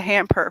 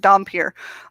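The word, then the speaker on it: dhampir: uh what don't i call it the hamper for a while but it's it's pronounced dom peer um it's like a russian sounding word and she didn't actually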